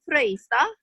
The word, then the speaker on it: Frøystad: He is one of the speakers, Kevin Frøystad. Yes, that's right. You pronounced Okay.